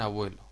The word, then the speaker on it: abuelo: Lo mismo ocurre en abuelo, es una palabra llana terminada en vocal.